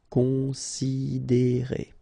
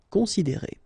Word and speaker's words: considérer: Considérer, okay, same thing here, you get this accent aigu, and then the sound is E. Considérer. Considérer.